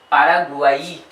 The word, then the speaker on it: Paraguay: Then Y at the end will pronounce like E. Paraguay.